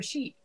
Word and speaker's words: sheet: And when they start to practice, they lose the E sound entirely. They say shit for sheet.